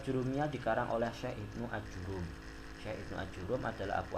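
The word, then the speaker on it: آجُرُّوم: kitab Syadarat Al-Zahab, formulisnya dengan memfathahkan huruf alif mamdudah, mendhommahkan huruf jim dan mentasydidkan huruf ra. Jadi bacanya gimana? Memfathahkan alif kan panjang, mamdudah itu kan panjang, jimnya di dhamma, ajurumi, salah ajurumi menurut Imam Ibnu Imad Al-Hambali.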